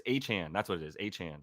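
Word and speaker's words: Achane: and running that kid aaine how do you pronounce it Brad aain the kid no achan or a is a CH no de a chain no no because it's not chain anymore it's achan that's what it is aan he he said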